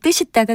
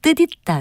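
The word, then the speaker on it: 뜻있다: 어떻게 발음하는 것이 맞을까요 연음 법칙을 적용해서 발음하면 뜻이 따가 되지만 이 표현의 경우는 연음 법칙을 적용하지 않고 절은 법칙을 적용해서 뜻 있다 로 발음합니다 절은 법칙이란 합성어 나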